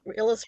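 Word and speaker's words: Illes: Illis rhymes with Phyllis.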